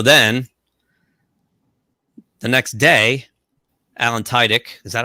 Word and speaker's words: Tudyk: So then the next day, Alan Tudyk, is that how you say his name? Tudyk. Yeah, Tudyk.